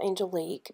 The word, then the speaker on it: Angelique: shade called angelic which we're gonna call Angelique because that's how you pronounce my name and we're gonna do